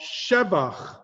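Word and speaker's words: שבח: However, here, al shevach ma'aseh yadecha. Shevach. There are a handful of types of words that you emphasize the first syllable and not the second to last or the last syllable.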